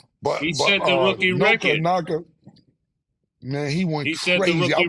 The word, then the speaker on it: Nacua: And I never heard of him, I'll be totally honest with you, but I don't want to pronounce his name wrong. Nacua something like that. Nacua.